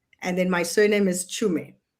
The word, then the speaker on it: Tshume: Uh, so there's a in the middle and then my surname is Chum.